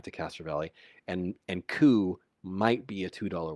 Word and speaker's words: coup: to come back to castro valley and and ku might be a two dollar word it might